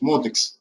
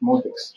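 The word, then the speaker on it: MODX: Правильно говорить Modex. Так настаивают разработчики. На всех языках звучит Modex.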